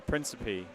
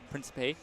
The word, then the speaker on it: Principe: How do you pronounce Frankie's last name? Sorry, Carl. Principe. Principe. Yep.